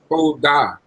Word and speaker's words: todah: How do you pronounce the Hebrew word for thanks? Todah. Todah. Very good. That is Tau, Holam, Dalit, Patat under the Dalit, Hey. Todah.